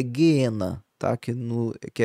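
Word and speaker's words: geena: Na no original a pronúncia correta é gena, tá?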